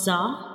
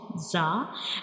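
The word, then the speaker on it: زاي: So this is the pronunciation of za, and za is a whistle letter. When we pronounce za, the whistle-like sound comes.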